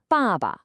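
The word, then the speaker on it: 爸爸: And let's really focus on the tone here because it's everything. It's the fourth tone. It's sharp. It's definitive. It's falling. Listen closely. It starts high and just drops. Ba. Let's try it again. Ba. It's almost like a gentle, firm statement. The second syllable is neutral, so it's super light and unstressed.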